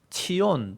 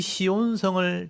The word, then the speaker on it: 시온: 차대 그러기도 하는데 그래서 치온 또는 찌온 이렇게 부릅니다 찌온이라고 하는데 우리나라 발음으로 이게 쉽지 않잖아요 그래서 그냥 시온이라고 발음을 하는 거예요 시온 그래서 이걸 보호받는다는